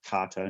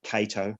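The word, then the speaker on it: Kato: of is is carto here um it's actually pronounced carto not cato like a lot of people say japanese vows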